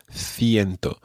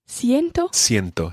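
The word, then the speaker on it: ciento: thing about fiento fiento it starts with ci and therefore in spain it's pronounced fiento but in latin america it would be pronounced siento siento okay so we'll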